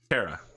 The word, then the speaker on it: Terra: Spelled with a P? Terra.